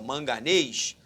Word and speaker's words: manganês: Sobre a acentuação gráfica das palavras manganês, presta atenção, manganês, sílaba tônica, aí ó, é a última, oxítona, oxítona terminada em ES.